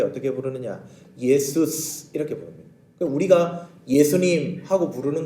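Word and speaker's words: Ἰησοῦς: 잘 아시죠 지저스입니다 여러분 우리말하고 원래 말이 발음이 더 비슷합니다 영어의 쫄 필요가 없습니다 자기들 마음대로 지지져서 없는 발음을 만들어 가지고 우리 예수님 부르고 있습니다 원래 우리 예수님 부를 때 어떻게 부르느냐 예수스 이렇게 부릅니다 우리가 예수님하고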